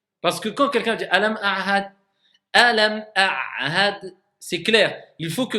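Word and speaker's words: ألم أعهد: Alam ahad. Vas-y. J'entends pas assez bien le ayn. Voilà, ça devient mieux. Alam a'had. Faut que j'entende la distinction entre le ayn et le ha.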